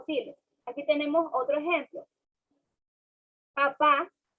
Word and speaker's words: papá: Entonces, nosotros que al estudiante le decimos que diga papá, estamos pronunciando el acento, lo que es en la A. Pero el estudiante no nos dice papá, sino nos dice papa.